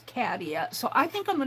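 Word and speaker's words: Catia: Let me now I call her Katilla. Now her name is Kadia. C A T I A. And she pronounces her name as Kadia.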